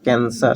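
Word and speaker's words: cancer: कैंसर, कैंसर। सी के बाद ई है तो यहाँ पर स होगा, ये तो कैंसर, ये स होगा।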